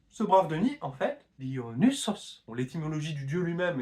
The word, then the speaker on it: Dionysos: D'où le Y qui est dû au upsilon du grec dans Dionysos, un son qui était plutôt prononcé U à l'époque de Platon, et puis qui a fini par devenir I. En grec moderne, par exemple, c'est I.